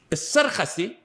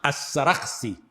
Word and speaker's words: As-Sarakhsi: As-Sarkhasi, and it's also mentioned, pronounced As-Sarakhsi. Both are proper. As-Sarakhsi may be more proper in pronunciation.